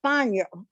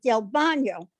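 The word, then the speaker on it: Bagno: b-a-g-n-o but he says you don't pronounce the g it's bono which is bad his brother was trying to say tell me his person and he says del bono so the man wrote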